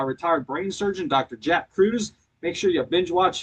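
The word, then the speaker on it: Kruse: Jack Cruz. Make sure you binge watch him and it's spelled with a K, okay?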